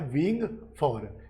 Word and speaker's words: vying: तो वो होता है विंग फॉर। इसका प्रोनाउंसिएशन होता है विंग फॉर।